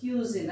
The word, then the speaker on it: cuisine: इसको कजिन नहीं पढ़ेंगे, इसका प्रोनाउंसिएशन है क्यूजिन।